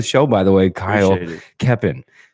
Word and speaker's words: Keoppen: Welcome to the show, by the way, Kyle Keoppen. No L. Yeah. You said it right this time. Perfect. No L.